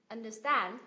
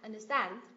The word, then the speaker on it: understand: ba temp by temp và động từ ghép cũng nhấm V tiết từ hai này understand understand understand được chưa ạ danh